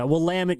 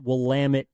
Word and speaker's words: Willamette: I don't know about great, but the above average, should we say, Willamette University.